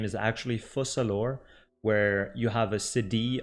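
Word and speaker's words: Focalors: city we'll pronounce s fusalor and the S at the end of the name is silent as well and yeah that's pretty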